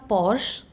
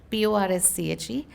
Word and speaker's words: Porsche: It was a play on Porsche, Porsche, and we pronounced it as for she, which was for her.